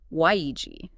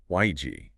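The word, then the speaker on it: 危机: It's pronounced wēijī. wēijī.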